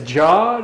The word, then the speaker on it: Jod: It's Jod. It's 3 letters. It's, you know, like you got this fishing rod over there. It rhymes with the fishing rod.